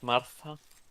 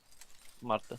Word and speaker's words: Marta: I called her Marta, but I don't know if the correct pronunciation is Martha. I'm not sure. No, it's Marta. Marta. Yes, Here we have. it's Spanish, so it's Marta.